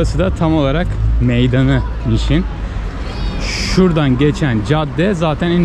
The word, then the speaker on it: Niš: O şekilde yazılıyor ve Niş diye okunuyor.